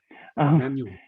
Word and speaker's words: Magnon: Magnon, am I pronouncing that correctly? I love it when it's pronounced that way, but yeah. Okay. Magnon. Is that so European? Yes, it's French.